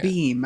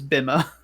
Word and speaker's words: Beam: Yeah, Beam. I need to remember that pronunciation. yeah, I always look at it and I think it's Bima.